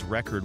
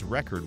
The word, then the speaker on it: record: The word record is pronounced as record when it functions as a noun and as record when it functions as a verb.